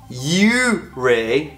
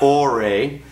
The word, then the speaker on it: Ouray: We were in Colorado and we were in Ouray, not Ouray. So I apologize for pronouncing that wrong. I'm Canadian, so to me that's or, not you, because the O is before the U.